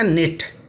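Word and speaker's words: knit: कहेंगे और बुनना होता निट के एन आईटी निट के साइलेंट है निट निटिंग लगेगा के एन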